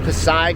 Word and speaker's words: Pasig: And if you're wondering, right here, this is, I think it's pronounced Pasig River.